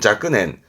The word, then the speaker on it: 若年: 발음은 자끄넨, 음으로는 자꾸했습니다.